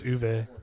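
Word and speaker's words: Uwe: Bowl or Uve. It's Uve.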